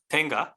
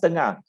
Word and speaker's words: Tengah: I personally is interested in sustainable smart town Tenga in Singapore. Do you know that? Sustainable smart town Tenga. Sorry, I didn't get the last part. Tenga? Tenga. Yeah. No. Tengah. Oh, Tengah. Oh, it's pronounced Tengah.